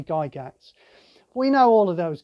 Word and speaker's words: Gygax: uh e gary gygax is it gala gaps or guy jacks i always used to say guy jacks i think it's because i'm british and we favor the soft g but it's probably guy gats we know all of